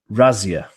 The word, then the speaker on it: Razzia: Audi raids so um apparently how I'm supposed to pronounce this in German is I say Razia so Audi was uh